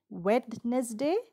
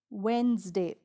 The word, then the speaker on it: Wednesday: first word is wednesday it's not wetness day it's wednesday wednesday comes after tuesday though